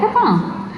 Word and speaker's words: Capão: I was in Capão, if I'm saying it right. In, did I say it wrong? Capão. Yeah, Capão.